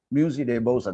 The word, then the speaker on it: Musée des Beaux-Arts: Musée de Beaux-Arts, that is the correct way in which that poem will be pronounced, Musée de Beaux-Arts, but written as Musée des Beaux-Arts, right?